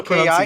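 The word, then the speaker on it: Hewkii: Huki, None of the H-U-K-I, now pronunciations became changed.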